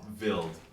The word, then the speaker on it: Vild: So the name would be Seewa Vild. Seewa is spelled Seewa. Last name Vild, V-I-L-D.